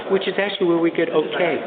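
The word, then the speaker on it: okej: Even in um Scandinavian languages, they say okay, but um their okay ends in a J. Oh, sure. But the J is pronounced as a Y.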